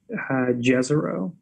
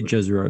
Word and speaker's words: Jezero: how do english so is it jezero i'd say jezreel that's how i've heard it pronounced see that kind of like hurts my brain a little bit um because uh that word looks very similar to yejoro in polish and yejoro means lake turns out that's that